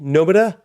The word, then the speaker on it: Nomura: So Nomura, the R is pronounced with a D. Nomura.